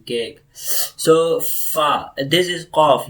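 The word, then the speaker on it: ق: When the root side of the tongue touches upside, like roof of the mouth, so cough will produce, okay?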